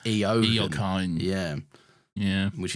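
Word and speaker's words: Eoghan: the Irish Owen is technically pronounced, or should be pronounced, Eogan.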